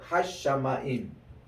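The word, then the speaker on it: השמים: 힘 에트 쉐골 그리고 하샤마임 그 할 때 이제 그 하늘 할 때 여기에 샤니까 정관사가 붙을 때는 그 뒤에 그 소리가 하나 더 납니다. 그 눈일 생각되고 그 잠이 한 번 더 중첩이 되거든요. 그래서 하사마임이 아니라 이게 하시 그리고 요거 다시 중복해요. 샤마임으로 이렇게 되거든요.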